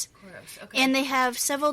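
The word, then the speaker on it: Coros: Choros. So it's spelled C O R O S. Choros.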